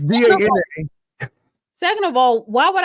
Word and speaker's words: Dana: First of all, it's not DEE because my name is spelled DANA. It's DANA.